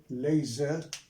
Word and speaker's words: laser: is an acronym but i pronounce it as a word now not like united nations you and i pronounce them as separate letter no i pronounce them here as separate word as a word as a whole just like any word